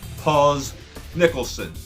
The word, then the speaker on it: Paz Nicholson: Next question is from Paz Nicholson. Paz Nicholson.